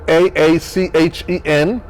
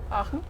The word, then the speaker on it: Aachen: So it's a really cool city, Aachen, and it's spelled A-A-C-H-E-N. But the German pronunciation is like Aachen. How do you say it? Aachen.